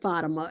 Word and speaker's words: Fatima: And she said that would be Fatima. But a lot of people pronounce it Fatima. That's how it is. A lot of the African people I know say it that way.